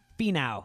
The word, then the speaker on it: Finau: Tony Finau.